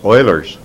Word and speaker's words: Euler: famous formula known as Euler's formula if you're curious euler was a Swiss mathematician consequently has the German pronunciation and the Euler's formula